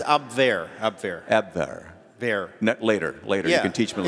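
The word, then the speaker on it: Abwehr: close it's ab ab ab ver later later teach me it's just a v it's just a v sound thank you thank you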